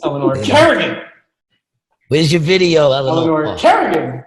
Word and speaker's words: Kerrigan: Kerrigan.